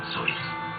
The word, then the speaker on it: Seuss: he started using the pen name soy pronounced like his mother's name name the doctor came